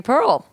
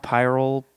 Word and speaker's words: Pirl: yeah nice yes well my name is spelled so weird it gets pronounced so many different ways yeah you know pyrrol people yeah I get a lot of I guess I get forgot they think the L is an i yeah Jacques very a